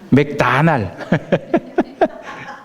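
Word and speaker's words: McDonald's: 그 패스트푸드점 맥도날드가 있죠 이게 이제 한국식 발음이 맥도날드고이 미국 사람들은 맥다나를 이루던데 만나요 맥다날 한국식은 맥도날드 이렇게 되고 미국 친구들이 맥다 안 할 이러는데이 패스트푸드의 상징이 됐죠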